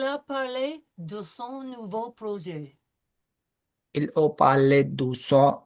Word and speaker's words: projet: No pronouncing of the T, projet, soft J sound, projet.